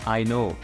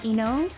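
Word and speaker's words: いの: What is I know? So it's actually pronounced Ino, which means to return home in the local dialect. So when you want to go home, you say Ino.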